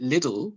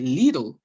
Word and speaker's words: Lidl: from Germany called little and the UK they pronounce it little but in Germany they'd say Lidl it's Lilo yeah yeah my and my aunt